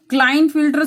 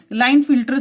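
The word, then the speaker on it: Klinefelter: Yes, that is अ क्लाइन फिल्टर syndrome, और इसे के साइलेंट करके लाइन फिल्टर सिंड्रोम भी कहा जाता है।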